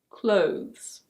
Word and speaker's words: clothes: There's the "the" sound followed by the "z" sound. In British English this is: clothes.